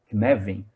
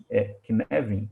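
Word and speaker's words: Cynefin: Knevin, escreve-se Synefin, depois, lá no primeiro slide que eu compartilhei com vocês, está escrito como se escreve em inglês e como se fala em gaélico, que é a língua dessa palavra, me explica o seguinte: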